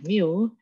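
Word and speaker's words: μ: kecil eh ini ada keterangannya ya bingung ini bacanya adalah Mio itu trik lowercase letter of you represent the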